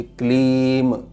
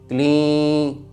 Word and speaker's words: क्लीं: अनुस्वार क्या चीज है जब हम इसका उच्चारण ऐसे कर रहे थे क्लीम और मां पर ज्यादा जोर दे रहे थे तो ऊर्जा बहुत नहीं आ रही थी लेकिन हमने मा उच्चारण नहीं करके जो ई है उसको थोड़ा सा उच्चारण में लंबा खींचते हुए मीठा कर दिया जैसे क्लीन क्लीन क्लीन और पहले हम ऐसे